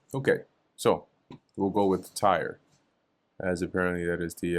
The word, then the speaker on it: Tyre: Tyre. Tyre. In a American English and British English, it is said as Tyre.